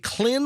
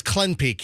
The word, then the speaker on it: CLENPIQ: Is it Clin or Clen? How do you think it's spelled? I think it's CLINPIQ. CLINPIQ. CLENPIQ comes up. Yeah, you know what? Peak. No, it's Clen Peak. So it's CLENPIQ. Clen. It's not Clin.